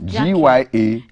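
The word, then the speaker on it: Gyakie: So her Jackie is spelled like tree. I'm really surprised. Jackie. G-Y-A-K-I-E.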